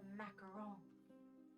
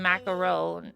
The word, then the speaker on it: macaron: The French cook the the macaron. Macaroon. Macaron. Well, macaroon is like right. That's different. Macaron.